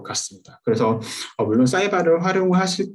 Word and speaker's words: SciVal: 저희 사이발은 사이언스 이밸루에이션의 약자로서 사이발 혹은 사이벨 이렇게 발음을 해주시면 되는데요.